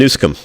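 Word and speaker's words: Newsom: and I'm making the comparison between DeSantis and nusum is that how you pronounce it yeah exactly yes I think I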